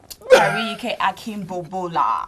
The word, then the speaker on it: Ariyike Akinbobola: But what I love most is her name, and that's the reason why you didn't want to pronounce it earlier. Anyways, it's Ariyike. Ariyike Akinbobola.